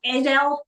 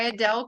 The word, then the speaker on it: Adele: was done right um Adel Kimel is the and I've saying her name wrong but but a d l e is the first name last name Adele it's Adele yeah and um and her